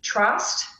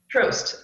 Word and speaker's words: Troast: okay from uh planned parenthood and also eb trust is pronounced i just saw them in the meeting um evie trust trost okay thank you for the correction they're from